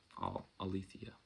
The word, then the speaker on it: Aletheia: a couple times well aletheia is how i pronounce it alethia all right so i'm